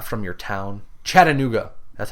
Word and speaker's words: Chattanooga: Chattanooga, not Chattanooga. I don't know how you say it. I'm not from your town. Chattanooga, that's how you say it.